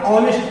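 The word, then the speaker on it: honest: यहाँ पे ऑनेस्ट पढ़ना है, ऑनेस्ट, ऑनेस्ट। यहाँ पे एच का उच्चारण हमें नहीं करना है।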